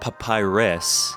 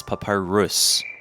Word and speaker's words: papyrus: First, I've realized that I was pronouncing it wrong. It's not papyrus, it's papyrus.